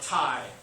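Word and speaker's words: taille: right to impose what's called a tie like the thing you tie around your neck tie that's how you pronounce that word the ti is property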